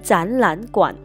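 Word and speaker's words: 展览馆: 前面两个字变读第二声，后面的一个字保持原调第三声，所以变读后读成展览馆。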